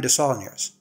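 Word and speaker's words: Desaulniers: It's Brienne de Saulniers. Or if you go with the French pronunciation over the anglicized one, de Saulnier.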